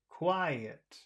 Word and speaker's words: quiet: huge sense now now the word quiet is two syllables which syllable has all of the sound why I why where's the sound where's the the emphasis quiet oh the first one the first one okay